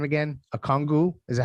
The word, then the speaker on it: Okongwu: Okongwu. Is that how am I saying it correctly? Okongwu, yeah.